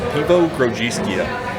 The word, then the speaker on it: Piwo Grodziskie: Everybody's going to say Piwo because it's Piwo.